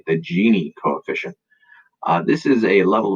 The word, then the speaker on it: Gini: So that's how you pronounce Gini, the Gini coefficient.